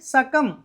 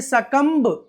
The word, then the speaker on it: succumb: సకమ్. సకమ్. అంతేగాని సకంబ్ కాదండి. COMB, Coombs. WOUMB, ఊమ్. TOMB, tomb. ఇలా whenever we find MB at the end of any English word, that B must be a silent letter.